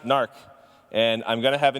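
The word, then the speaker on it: Knarch: just being clear okay so gnarrk DB it's pronounced narc and I'm gonna have a new name cuz nobody pronounces it narc I thought I was being clever with my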